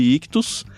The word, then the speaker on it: ichthus: a primeira seguir a gente nas redes sociais@Clube ictus lembrando e Ch t h u s que se escreve quilos então arroba Clube ictus a gente